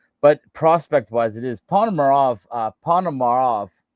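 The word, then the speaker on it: Ponomarev: It is Panomarov. Uh Panomarov, I always say his name wrong. Basili Panomarov. Is that how you say it? The The kid from Carolina. You got it right there. Yeah. Panamarov.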